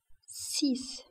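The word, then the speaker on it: six: بالنسبة للرقم 6 فهو يكتب على شكل S, E, X ولكن ال X تنطق S. 6, 7, 7, سبعة وهنا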